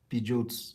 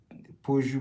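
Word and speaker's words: Peugeot: a German German car we call it Pidgeot instead of like Po like I think that's that's that's the right way to pronounce it I think we call it Pot very funny pictures.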